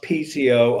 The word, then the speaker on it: piezo: our muscle activity and the piezo, sometimes pronounced PCO, electric effect.